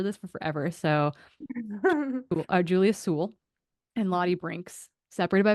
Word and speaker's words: Sewell: nice DM because I keep calling her Juliet Soule. And she rhymes with pool. And I was like, I am going to remember this for forever. So Julia Sewell and Lottie Brinks, separated